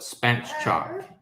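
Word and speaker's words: spatchcock: so so good um it's pronounced the way it's spelled spat chalk just smoke it and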